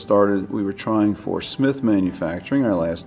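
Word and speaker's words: Cmith: Still pronounced Smith, C-M-I-T-H.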